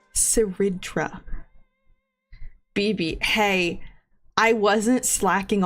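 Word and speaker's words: Cerydra: Um, I finally listened to the voice lines for our new girl and it is pronounced Seridra. Um, in English at least it is pronounced Seridra. Seridra BB.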